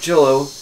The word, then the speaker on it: cello: full full moon cello cello rhymes with jello joe's delicious i get jello boom mystery solved right so i picked up the magic cello and all of a